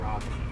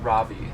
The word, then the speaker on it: Ravi: Is it Ravi or Ravi? Ravi. Okay, Ravi. I have been saying it right. Okay. Right? Yes. R-A-V-I. Yeah. Like ravioli.